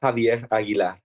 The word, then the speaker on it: Javier Aguilar: My name is Javier Aguilar.